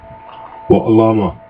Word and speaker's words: Wa Alama: So this great name here is Wa Al La Ma Wa Al La Ma. So you have the pronunciation. Wa Alama is how you would say it faster.